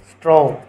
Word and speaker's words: straw: स्ट्रो, स्ट्रो क्या हो रहा है? इसमें आर के बाद सिर्फ STRAW, स्ट्रो। पुआल, ए क्या हो रहा है? साइलेंट हो रहा है। ए क्या हो रहा है? साइलेंट। स्ट्रो, स्ट्रो।